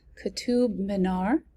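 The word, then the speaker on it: Qutub Minar: see in the title okay this is uh katub minar i had to look up how to pronounce that because i was so curious um the soaring height of ketub manar which is the minaret in delhi is that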